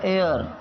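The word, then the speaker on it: heir: लेकिन इसका जो उचित जो सही प्रोनन्सिएशन है जो इसका सही उच्चारण है वह है एयर।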